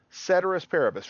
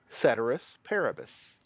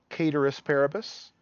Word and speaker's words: ceteris paribus: repeat it with me ceteris paribus some people will pronounce this latin phrase cater asparagus Latins a dead language we don't know how they pronounced it but most people will pronounce this ceteris paribus sometimes we'll call this